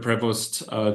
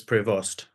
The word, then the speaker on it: Prevost: As far as I can make out, it's Prevost. Prevost, right? Okay. Prevost, yeah.